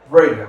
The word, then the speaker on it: Brega: His name is Rich Brega. Am I pronouncing your name right? Yeah, that's correct.